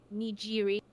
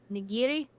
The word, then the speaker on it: nigiri: I think it was a nijiri. There said it. Well, you didn't say it correctly. Um, it's a different kind of G. With a with a G. No. No. Say it's a hard G.